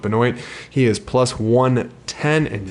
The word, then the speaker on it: Benoit: I'm saying Ben anoint I'm a well aware it's supposed to be pronounced Benoit but he actually pronounces a monoid so I'm gonna support him and go with binoy he is plus 110